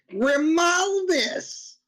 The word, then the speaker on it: Grimaldus: You're pronouncing Grimaldus wrong, as I just did. It's Grimaldus. Oh, just in case you were wondering. So okay, so more nasally. More nasally. More nasally. That's how you say it.